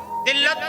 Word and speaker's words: ذِلّت: लेकिन जब हम लफ्ज़ जिल्लत की हिज्जे करते हैं तो लाम को 2 बार पढ़ते हैं।